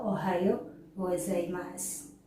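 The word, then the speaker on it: おはようございます: orang lagi Ohayo gozaimasu penulisannya ohayou gozaimasu cara bacanya adalah Ohayo gozaimasu kalau yang Selamat siang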